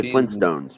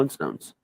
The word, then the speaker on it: Flintstones: There is 2 T's, but most people don't pronounce the first T, which is why people didn't realize there was a 2 T's in it. We say Flintstones. We don't call it Flintstones. We just call it the Flintstones. But that's just because of how we pronunciate things, not because there isn't a second T in it.